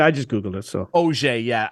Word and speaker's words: Auger: So Auger, yeah. Auger.